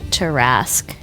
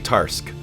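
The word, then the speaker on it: Tarrasque: Do you know, I've always thought that monster was pronounced Tarask. I don't know how it's pronounced. I'm going to be straight honest, and I think Tarask might be right. Because I say Tarsk, because I'm lazy. But I think it's Tarask, because it's a French word, right?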